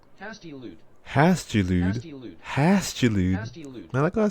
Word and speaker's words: hastilude: How to pronounce hostiludo? Hostiludo. Hostilida? How to pronounce hostilida? Wait, hold on. Define hostilida. Okay, fine. We'll go here. How do we pronounce it? No, hostilude. Okay. Hastilude. Hastilude.